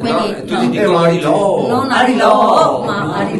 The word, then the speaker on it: Ariloo: Non con la U, con l'accento. Con esatto. Due O. No, Vicentino. Quindi, no, tu ti dico Ari Lu.